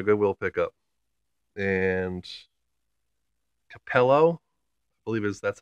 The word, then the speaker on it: Capello: that is my good will pick up and Capello believe it that's how you pronounce it that's the brand name so that